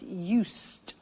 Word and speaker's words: used: listen to the pronunciation I said used with a T sound use not use it or use ed used that's very important to distinguish it from the other verb use okay used the next